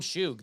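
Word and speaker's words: Shough: The guy who missed They call him Shug. They Shug? actually pronounce it, yeah.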